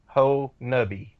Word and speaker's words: Honobia: It is actually spelled like it's Honobia, but it's Honobia, but it's pronounced Honubby.